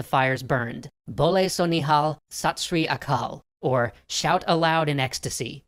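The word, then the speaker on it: Sat Sri Akal: over as the fires burned bole so nihal satsri akal or shout aloud in ecstasy true is the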